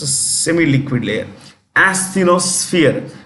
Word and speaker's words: asthenosphere: Asthenosphere. When you pronounce this, it is SF, not SP, SF. Asthenosphere.